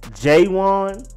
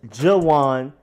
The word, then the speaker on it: JaJuan: offensive tackle JaJuan Taylor it could have been j-1 I've seen some jewel ins out there too but this one is JaJuan Taylor JaJuan Taylor then there's